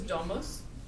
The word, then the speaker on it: domus: usually it's negative okay the next word is domus the genive is domus again with a long u H this one is